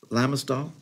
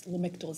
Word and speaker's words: Lamictal: Lamistal? It's Lamictal, C, not S.